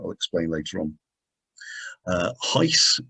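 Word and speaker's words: HIES: explain later on uh heiss is how it is pronounced h-i-e-s is a way of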